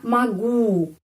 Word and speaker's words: могу: Я могу. O dibaca A karena penekanannya di sini pada huruf U.